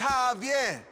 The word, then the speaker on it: Javier: don't get it it's Javier it's pronounced like an H abier yeah what you